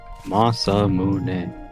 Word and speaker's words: Masamune: But they don't have the ah sound in Japan. Masamune. Well, now we're gonna start arguments in the chat. It's not an argument. That's just how it's pronounced. It's just how the syllables in Japanese work.